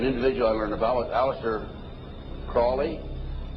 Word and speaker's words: Crowley: i learned about aleister crowley he likes to be have his name pronounced crowley to rhyme with holy and the satanist today